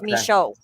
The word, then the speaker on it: Michaud: Well, it's we enunciate it with the French version, right? Which is Michaud. And so kind of like Michaud.